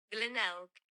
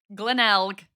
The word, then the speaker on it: Glenelg: Glenelg. Glenelg.